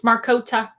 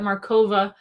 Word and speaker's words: Markota: so um yeah hi and it's marcota that it's a great way to start the interview mispronouncing your name that's okay people do that all the time I get markova um because it's like the Slavic sounding right and that's the autocorrect